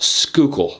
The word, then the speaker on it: Schuylkill: the schuylkill river and yes this word is pronounced skookul the population of west conshohocken is 1384 people